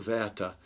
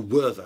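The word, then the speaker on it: Werther: long the Sorrows of young Vera um or or worther if you're not very good at German pronunciation and that was in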